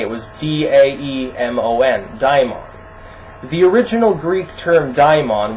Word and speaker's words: daimon: It originally was spelled with an A. It was D-A-E-M-O-N, daimon.